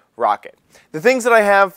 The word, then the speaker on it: Roccat: accessories I called them rockat because it is spelled r o c c a t uh the way they actually pronounce it is rocket the things that I